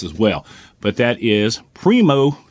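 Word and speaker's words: Primeaux: But that is Primo Targets, and that's spelled P-R-I-M-E-A-U-X.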